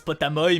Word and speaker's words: Potamoi: Alors je sais que ça se prononce potamoy, mais c'est quand même